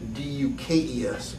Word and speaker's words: Dux: It's made out to a Frank D-U-K-E-S. And anybody and knows. it's spelled D-U-X, correct? Dukes, right.